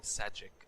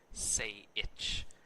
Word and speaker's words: Sajik: and we were saying, because he spelled Sajik, S-A-J. That's how his name is spelled. And we were saying Sajik, and then the Australians are like, no, it's Say Itch.